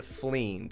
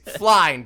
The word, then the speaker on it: Flind: He points out at this and he points out this thing that you all know to be a fleend, which I recently learned is how you pronounce it.